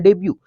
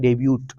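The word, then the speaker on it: debut: हम पूरा पढ़ने हैं हालांकि पढ़ना है देबू लेकिन हम करते हैं डेब्यू टीवी बोलते हैं आकर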